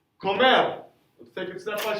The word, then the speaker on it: come: Comes. He or she eats. Come. Again, it doesn't say come like come here. Right? We're now in Spanish. Spanish E says S, so it's come.